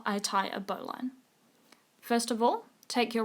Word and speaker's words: bowline: The bowline, sometimes pronounced bowline, is a very useful knot.